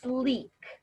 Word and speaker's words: Slique: products that young living has that is called sleek it's spelled s-l-i-q-u-e and this stuff is wonderful lots